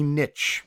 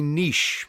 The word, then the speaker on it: niche: also talked about a niche some people call this a niche comes from the German it has two pronunciations to it a niche is the